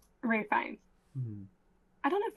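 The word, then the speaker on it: Ralph Fiennes: I don't know if it's Fine or Fines or whatever, but it's spelled like it looks like it's like Ralph Fiennis, but it's not said like that at all.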